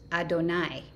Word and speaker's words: Adonai: dalid nun yud right my name is pronounced adonai not however you pronounce these four letters okay let's keep going